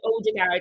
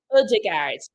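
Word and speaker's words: Ødegaard: and I did see it's actually not Odigard, it's Odigard. the the O with the little line through it is like an uh I can't say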